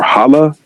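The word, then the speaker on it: hâlâ: It is pronounced as ha la longer a sound stretched a little.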